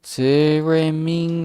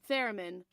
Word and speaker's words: theremin: Yes, theremin. What the? How to pronounce this again? Sorry. Theremin.